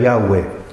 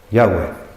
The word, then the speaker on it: Yahweh: El Salmo comienza con el nombre hebreo que nosotros ponemos en castellano Jehová, en hebreo es Yahweh.